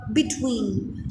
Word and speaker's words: between: Between, so Similarly, the stress has been placed on second one.